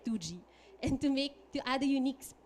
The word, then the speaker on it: TWOGIE: And we shortened that statement to TTGY, which when pronounced very quickly sounded like 2G.